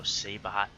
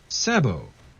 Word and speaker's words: sabot: And by the way, Sabot is a French word, and English pronunciation of T does not appear in French pronunciation, so Sabot is not how you pronounce this word. It's Sabot.